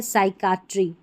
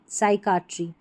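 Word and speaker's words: psychiatry: अब इसमें पीएस से शुरू होगा तो पी का उच्चारण नहीं होगा। तो इसको देखिए साइकोलॉजी पढ़ेंगे, साइकिक पढ़ेंगे, साइट्रिस्ट पढ़ेंगे और यह है साइकट्री। साइकट्री।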